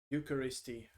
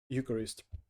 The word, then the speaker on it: Eucharist: Fractio panis, Latin term meaning a fraction of the bread, a reference to the Eucharisty. Eucharist. Exactly, Eucharist. Eucharist, they pronounced it in English.